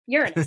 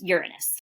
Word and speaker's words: Uranus: listening to different astrologers especially more recently the pronunciation of the planet Ur r a n us so Uranus Uranus okay some people say Uranus and I don't